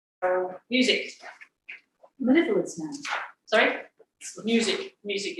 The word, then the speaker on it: Music: Music is the way you pronounce it. Music.